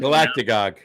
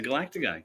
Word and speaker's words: galactagogue: Galactagogue. Galactagogue. Look it up. I might have made it up. Can you spell that?